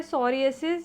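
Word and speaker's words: psoriasis: है और फिर है सोरिएसिस यहां पर हम इसको पी को साइलेंट करेंगे सॉरी एडमिन ट्रीटमेंट सोरिएसिस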